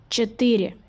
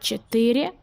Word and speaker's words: четыре: You write четыре, but you pronounce a little bit different. Четыре. Now you are looking how you write it. Четыре. Just remember there is slight difference in pronunciations in this number.